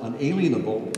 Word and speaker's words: unalienable: Now, we often pronounce it unalienable, but really the word is unalienable, as in